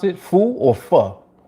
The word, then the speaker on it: pho: Foo or pho? It's pho? It's pho or fa? Fu, like kung fu.